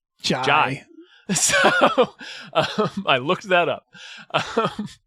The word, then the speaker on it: Jai: And Jai Courtney, I'm sorry, I keep saying Jay. His name is actually pronounced Jai. It is pronounced like an Australian person saying Jay. Jai.